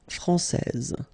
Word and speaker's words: français: main rule, elle est française. Okay, so français, here you get this final S that you don't pronounce, so français, and then when you put this final E here, you will get française.